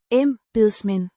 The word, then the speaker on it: embedsmænd: Pronounced. Embedsmænd. Dash. Em. As in embrace, beds with a soft d, and men, as in the English word.